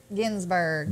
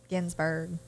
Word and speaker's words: Ginsburg: How do you pronounce that lady's name? Geesbrick? That was the Supreme... Ginsburg. Isn't that right? Ginsburg.